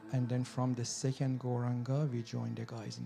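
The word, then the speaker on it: Gauranga: to add the Mantra goranga to our practice turning it into a koranga breath meditation just a little bit about goranga Mantra it's got four syllables go ra on God this wonderful yoga sound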